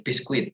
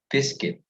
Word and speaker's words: biscuit: also mispronounce these words my students love peacequit they love to say pisquit it's not biscuit but biscuit all right so we do not say we do not say the u sound we do not pronounce the usa biscuit but biscuit also in the